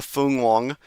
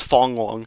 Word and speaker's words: Fung-wong: um this storm uh Fun Wong. Remember to initi initially mispronouncing it as Fong Wong, but I think it's Fun Wong or Fun Wong.